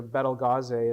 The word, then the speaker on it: Betelgeuse: Betelgeuse, or Betelgeuse as it's more correctly pronounced, is on the opposite side of the sky.